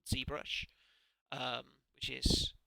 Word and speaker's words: ZBrush: is a program called zbrush um which is it's pronounced the American way because it's an American program and it's it's a